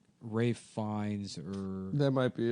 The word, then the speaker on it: Ralph: Ralph Fines.